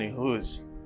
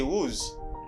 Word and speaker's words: who's: this letter w do not pronounce w you have to pronounce h you stress the h you say who's but many people say wooz it's not because they